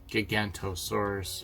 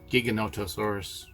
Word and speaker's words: Giganotosaurus: The fight at the end with the Gigantosaurus, or however you pronounce it, Giganotosaurus, I think that's how they pronounced it. Which I've been pronouncing it wrong.